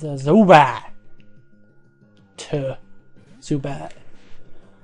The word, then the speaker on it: Zubat: It's my Dalton accent showing because I don't pronounce my T's. Zubat. Zubat. Like you use it to like the back of your throat to cut off. You Zubat. And it gives an impression of a T.